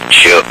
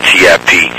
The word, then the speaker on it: Tip: of my name man my name's tip tiip okay and so you know um and so I uh I just used to I just used to spell it out man to keep to keep from having to keep repeating myself you know a lot of time due to my accent people think I'm saying CH chip you know they don't